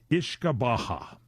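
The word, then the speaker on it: uisce beatha: This Ishkabaha is spelled U-I-S-C-E. I guess that's your Ishka, and B-E-A-T-H-A is your Baha.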